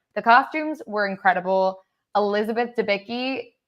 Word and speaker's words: Debicki: Elizabeth Debicki, Debicki, right? That's how you pronounce her last name.